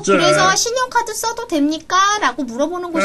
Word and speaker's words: 信用卡: 어, 그래서 신용카드 써도 됩니까? 라고 물어보는 곳이 좀 많다네. 물건을 팔 생각이 없나 본데, 이거. 모르지. 여하간의 신용카드를 중국어로 알아야 된대. 잘 들어봐. 발음이 비슷해. 신용카. 신용카. 비슷하지? 신용카. 신용카.